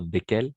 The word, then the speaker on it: desquels: En effet, attention parce que au niveau de la prononciation, on va prononcer de la même façon. Desquels, desquels. Ok. Donc, on doit préciser desquels féminin ou desquels masculin, pluriel.